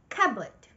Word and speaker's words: cupboard: Usually, people pronounce this word including the letter P, which isn't so. The right way to pronounce this word is cupboard.